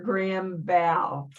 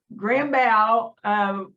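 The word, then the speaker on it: Grambow: So I called her Gram Bow. Gram Bow, okay. Yes. And I can see how you'd think it would be Grambo, because it's spelled that way. And yes, Gram Bow, my mom had to work all the time.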